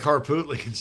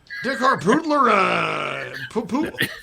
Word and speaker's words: Harpootlian: Yeah, Todd would probably Dick Harpootlian's name. Oh my God. Dick Harpootlerin. Dick Harpootlerin. To the 28 years old. Dick Hartoonian. Cartoony. Yeah. Todd, I believe it's pronounced Harpootlian.